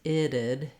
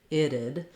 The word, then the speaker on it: it'd: So for iddid, this is a tricky one to pronounce because there's no vowels here. So I've rewritten it for you with the sounds. We have a flap T, which I've rewritten as two Ds, iddid, iddid. Thinking about it'd be nice